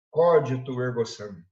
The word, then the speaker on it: cogito ergo sum: Cogito ergo sum é a pronúncia correta.